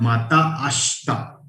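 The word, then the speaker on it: またあした: Then माता आशिता और माता आश्ता. Pronunciation is माता आश्ता, means see you tomorrow.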